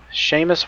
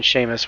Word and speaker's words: Seamus: Seamus Walsh. And yes, I know that name. That's how it's pronounced.